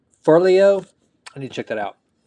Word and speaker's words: Forleo: book is everything is figure outable by marie forleo did i pronounce that right for leo let me check that out for leo i